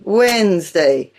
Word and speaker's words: Wednesday: The middle D and the middle E are silent in Wednesday. Listen, Wednesday, and so on.